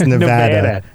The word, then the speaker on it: Nevada: Well, just like we mispronounced Nevada during the pre-chat. And, Nevada. Very Bostonian. It's Nevada.